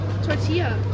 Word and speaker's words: tortilla: is like tortilla chips tortilla tortilla tortia tortilla okay okay in Spanish two L's are pronounced to Y okay okay so whatever